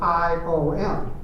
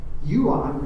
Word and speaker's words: Ion: And he looked at me, and he goes, He goes, no, in Romanian, I is pronounced with a J. Yuan, which is John.